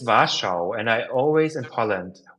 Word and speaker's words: Warschau: But during my birthday in November, end of November, I will go to Was what in German it's Warschau, and I always in Poland.